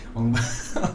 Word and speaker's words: Ong Bak: Because it's written O-N-G. Yeah. So we pronounce it Ong Bak. Okay. Ong Bak.